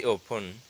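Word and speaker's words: often: इसे अक्सर मिलता हूं आई ऑन ये टी साइलेंट है आई ऑन मीट हर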